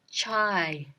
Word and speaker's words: çay: So the word for tea is chai. Chai. China. So you're going to China to do what? Drink your tea. Chai, China. China, chai. Same, right?